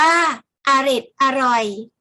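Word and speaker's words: เอร็ดอร่อย: โทรทัศน์ หรือ วิทยุ อดิศร์ อร่อย อ่าน ว่า เอร็ด อร่อย หมาย ถึง อร่อย เหลือ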